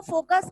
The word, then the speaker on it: foci: तो ये plural number को फोकस का प्लूरल नंबर, जैसे आप चाइल्ड का चिल्ड्रन बनाते हो, मैन का मैन बनाते हो, उसी तरह से फोकस का फोकी होता है। प्रोनाउंसिएशन ये है, स्पेलिंग ये है FOCI।